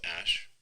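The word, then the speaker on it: Æ: And then the AE is like pronounced Ash.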